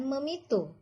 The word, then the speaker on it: memitu: Mitoni dalam bahasa tradisi Jawa awalnya diucapkan dipitoni. Namun karena dianggap sulit dalam bahasa masyarakat Cirebon, maka diucapkan memitu.